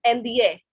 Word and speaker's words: indien: For example, INDIEN is NDA. We are not pronouncing the N. NDA, only NDA.